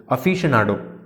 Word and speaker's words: aficionado: Aficondo. Aficondo. Aficionado. Many people pronounce it like aficondo. Aficondo is a wrong pronunciation.